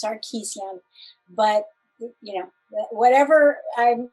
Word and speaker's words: Sarkessian: say it properly please the family pronunciation is sarkeesian but you know whatever